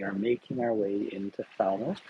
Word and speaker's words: Falmouth: making our way into Falmouth, or Falmouth, I guess, in the local pronunciation.